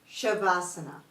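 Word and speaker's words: Savasana: VA which means corpse there's no H but we pronounce it as though it does have an h shavasana another common yoga position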